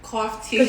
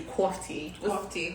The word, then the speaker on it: Coff-Tea: things like real crazy coffee tea what's the proper pronunciation coffee cough tea tea like coffee like cheese tea so it's like coffee but it is tea and it looks it